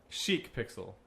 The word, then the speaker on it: Chic Pixel: Chic Pixel. Yeah. Makes more sense. No, it doesn't. But but it is spelled better.